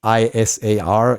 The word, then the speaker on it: Isar: people uh so that's the disadvantage so it's i s a r is my first name and it's pronounced isar and the last name is